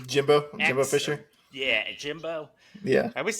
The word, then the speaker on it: Jimbo Fisher: I guess Jumbo Fisher, Jimbo Fisher.